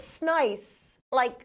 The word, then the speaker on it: Snice: I've always pronounced it Sneeze. I've been talking to this guy for months now, and that's how I've been pronouncing it. I have no idea. I should probably ask him what the true pronunciation is. I did. It's Snice.